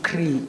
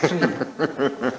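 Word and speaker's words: three: My children will be proud I pronounced 3 as they always correct me not to cree, it's 3. I've managed to pronounce it properly, it's 3.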